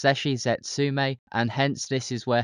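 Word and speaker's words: 絶死絶命: In Japanese, the epithet is pronounced Zesshi Zetsume, and hence this is where her nickname comes from.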